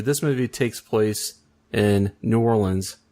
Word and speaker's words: New Orleans: movie takes place in New Orleans or nollans how they say it in the movie so I was wondering